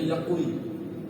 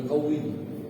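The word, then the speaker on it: يقوى: Bacanya yakui, kuat, ya, bukan yukawi, bukan yuksi, membaguskan, bukan.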